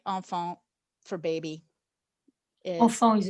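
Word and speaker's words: enfant: that the word um tell me am i pronouncing this right own phone for baby oh phone is a child on font yes for a child is like a much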